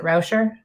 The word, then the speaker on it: Rauscher: Is it Rauscher?